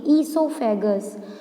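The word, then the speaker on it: oesophagus: After passing through the ईसोफेगस। जो ये ओ है ये साइलेंट है, ये ईसोफेगस से क्या होता है, ट्रांसफ़र होके जाता है।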